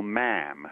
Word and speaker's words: ma'am: Yes, it's like the Queen you call ma'am, which rhymes with jam.